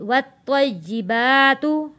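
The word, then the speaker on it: والطيبات: जब हम इसको वफ़ करेंगे तो ये वत्तय्यिबात पढ़ा जाएगा। वाव तो ज़बर वत, तो या ज़बर तोय, वत्तोय। या ज़ेर जी, वत्तोय्यी। बा खड़ा ज़बर बा, वत्तोय्यिबा। ता पेश तू, वत्तोय्यिबातु। वक्फ में पढ़ा जाएगा वत्तय्यिबात।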